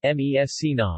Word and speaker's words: Messina: Massena Italian pronunciation mes Sina listen Sicilian Messina Latin Masana ancient Greek